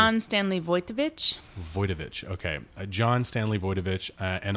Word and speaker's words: Wojtowicz: What's the I know you looked up the pronunciation. John Stanley Wojtowicz. Wojtowicz.